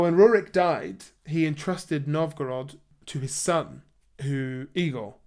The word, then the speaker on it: Novgorod: he obliged and he eventually settled in novog nov gorod I always get this pronunciation wrong Novgorod um and he settled there